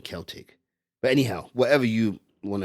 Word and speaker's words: Celtic: In English, they will pronounce it as the Celtic people, but when they mention the football team, they'll say Celtic. But in Irish Gaelic, it's actually Celtic.